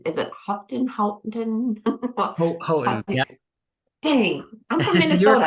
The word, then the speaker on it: Houghton: Hey, can we add the MACAE dash in front of, help me with my non-Michigan pronunciation. Is it Houghton? Houghton, yeah.